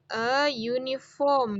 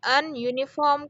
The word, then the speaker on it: uniform: uniform ya berarti dia diawali oleh huruf y buruknya Itu adalah huruf konsonan jadi makanya dia dibaca dia digunakan eyun ifom ya bukan n uniform karena Disini yang perlu